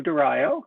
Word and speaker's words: Dario: I hope I'm pronouncing your last name correctly. It's Dario, and that's okay.